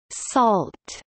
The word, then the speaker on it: NaCl: sodium chloride, pronounced salt, is an abbreviation for Networking and Cryptography Library, a public domain high-speed software library for network communication, encryption, decryption, signatures, etc.